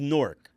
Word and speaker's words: Newark: So you're originally from Newark, New Jersey? Yeah, buddy. it's pronounced Newark.